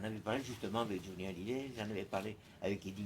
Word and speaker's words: Hallyday: Français ne savent pas prononcer. Ils disent Holiday, il faut dire Hallyday.